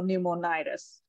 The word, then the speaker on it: pneumonitis: right so pneumonize and the stress is on the second to last syllable so pneumonitis yep okay it's a